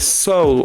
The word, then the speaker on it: soul: prononcer et non ce n'est pas s ou s Music c'est soul like oh ça me surprend ça